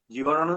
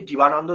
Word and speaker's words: জীবনানন্দ: জীবনানন্দ দাশের জীবৎকালে তার অনেক সহকর্মী তার নামটিকেই সঠিকভাবে উচ্চারণ করার প্রয়োজনীয়তা বোধ করতেন। জীবনানন্দ দাশ অনেক ক্ষেত্রে জীবানন্দ দাশ হয়ে গেছেন।